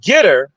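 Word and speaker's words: Gettr: uh that has grown exponentially you have uh getter that's spelled g-e-t-t-r-r-r maybe something like that g-e-t-t-r you can look it up it's similar to uh Twitter it's called getter it's it's a large platform you have Frank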